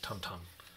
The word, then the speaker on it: Tintin: tinted stuff from the tintins shops and museums back there in brussels and he never says tintin he says tantan so yeah i guess in belgium language you don't say tintin so it starts off